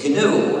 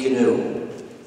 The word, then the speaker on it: GNU: new anymore but it still is canoe and will always be canoe the other erroneous pronunciation